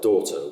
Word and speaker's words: daughter: Because GH in daughter is pronounced like CH in loch, or double L in Welsh in Llanelli or Llewellyn. So it's doctor that I was hearing. Of course, nowadays we still spell daughter with GH, but the GH is silent, as in shush.